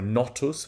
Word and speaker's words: Notus: so the West Wind and the notus uh or sorry not us with a short o not us is the south wind